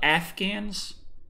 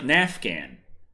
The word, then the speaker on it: Afghan: Damn it, when I was young, it was always like nafghan. No, Afghan. And I'm like, okay, Nafghan. I guess that's the correct pronunciation. All this time I've been saying Nafghan, sounded like an idiot. It's Afghan.